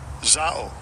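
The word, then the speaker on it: ζάω: And it is G 2198, and I'll give you a pronunciation of it. Strong's G 2198. Zao.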